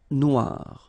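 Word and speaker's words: noire: it's quite funny because you will have to add this uh at the end of noir for the feminine form but then you don't pronounce it okay so phonetically it is exactly the same noir noir okay gri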